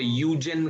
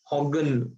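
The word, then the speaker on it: Huygens: अभी एक्चुअली कैसा, ये डच वाले लोग हैं ना, तो ये लोग एच नहीं प्रोनाउंस करते हैं उनके यहाँ पे, तो काफी सारे लोग इसको उधर पे यूजेन करके कहते हैं, यूजेन, ठीक है। बहुत सारे लोग हॉगन करके प्रोनाउंस करते हैं। अपने इंडिया में तुमको ज्यादातर लोग हाइजेन करके बुलाते हुए दिखेंगे।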